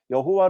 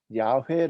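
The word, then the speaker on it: 야훼: 밥에 2 요거 와 여호와 라고 하는 이 읽기 는 잘못된 것을 의미 학자들 사이에서 절로 내놨습니다 원래 이것을 제대로 읽을 내면 야외 라고 있는게 봤죠 으 야외 야외 라고 읽고 유대인들은 이 이름을 아도나이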